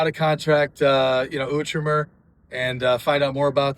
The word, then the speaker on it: Outremer: And listen, I mean, make sure when you come up and you talk to them, you know how to pronounce the name right. It's Outremer. Outremer.